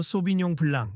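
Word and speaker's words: Sauvignon blanc: 실장님, 저도 몰랐던 부분이 있으니 가르쳐 주시면 감사하겠습 소빈용 블랑 이렇게 발음하라고요? 그러자 한 실장은 여전히 콧방귀를 끼듯 대답했다 비슷하게 하긴 하셨네요. 그래도 프랑스인들이 들으면 우습다고 할 만한 발음이에요. 제대로 소비용 블랑 이렇게 천천히 말해 보세 언어를 가볍게 여기면 안 됩니다.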